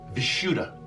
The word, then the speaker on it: Vishuddha: The Sanskrit word is pronounced Vishuddha.